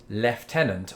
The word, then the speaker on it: lieutenant: the thing I think I don't remember ever pronouncing this the British Way of leftenant I've always said I think probably not lieutenant